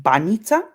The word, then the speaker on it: Banitsa: The Banitsa. Oof. It's pronounced Banita. Banita. Okay. Okay. Banita, yes, Banita.